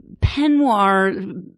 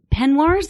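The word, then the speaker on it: peignoir: all very costumey um penir penir that's how it's pronounced right penir sure the the you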